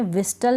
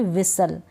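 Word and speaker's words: whistle: अब इसको भी मैं विस्टल नहीं पढ़ूंगी, विसल।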